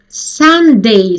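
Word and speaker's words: sundae: Sunday spoon. Вот это слово произносится так же, как и слово воскресенье.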